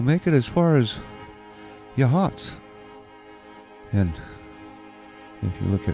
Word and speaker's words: Yachats: or uh we'll make it as far as yahats and if you look at how it's spelled it it sounds like it should be hatchets but it's pronounced jots by the folks who come from there live